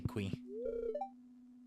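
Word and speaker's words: Qi: me someday Mr que this may pronounced key but it sounds easier to say que look at look at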